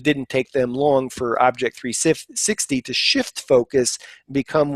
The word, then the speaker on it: OBJEK 360: And then rounding up the nominees for the MSP of the Year, Alexander Dabaka, his company Object 360. I'm giving you the American pronunciation, but it's actually spelled OBJEK 360.